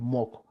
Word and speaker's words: Moq: So I said, if you are mocking in using NUnit, I'm using a framework called, or a library called mock. It's spelled MOQ.